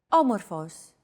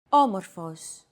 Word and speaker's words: Όμορφος: By the way, did you notice that although this word is longer than the previous one, it feels as if the syllables are pronounced faster? Όμορφος.